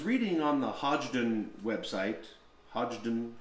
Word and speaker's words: Hodgdon: on the hodgdon website hodgdon hogden there's some debate about pronunciation i call it hodgdon and they did announce